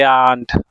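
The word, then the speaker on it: aren't: वी आरंट no they आंट actually आरंट नहीं होता है आंट होता है आंट। मैं इसलिए प्रोनाउंस कर रहा हूं ताकि समझने में आसानी हो सके। No they आंट आंट आर silence.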